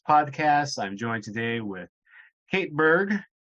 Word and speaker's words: Kate Berg: I'm joined today with Kate Berg, correct? I'm pronouncing that right? Mm-hmm. No weird pronunciation there.